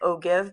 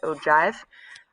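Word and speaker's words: ogive: g i v e so it looks like oh give but it's pronounced oh Jive all right and so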